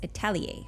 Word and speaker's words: Atelier: But yeah, found out it's Atelier. Yeah, we had to Google it just to be sure because we didn't know we didn't know how to pronounce it.